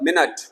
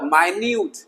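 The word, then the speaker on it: minute: आई एन यू टी यहां देखिए मेंट मतलब मिनट और माइन्यूट स्पेलिंग एक है एम आई एन यू टी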